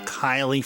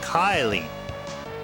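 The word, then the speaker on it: Kaeli: Now if you say it fast, it sounds like Kylie. Kylie. Kylie. You see what I mean? It sounds like I'm saying it sounds like pronouncing it as K Y L I or something, right?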